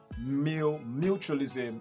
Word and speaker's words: mutualism: Remember that this word is coming from the word mutual, okay? And in mutual, the word is stressed at the first syllable, mutualism, okay? Mutualism. And you changing and you adding the suffix ISM to the end of the word doesn't change the stress pattern, or didn't change the position of the stress.